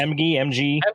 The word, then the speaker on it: Emge: So, starring David Emge. Is that how you say it? Yes. Sure, MG.